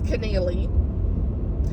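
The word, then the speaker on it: Connealy: the audio of this her name's Connelly Mary Connelly okay and I'm like oh yeah it is Connelly there's a e-a-l-y my Southern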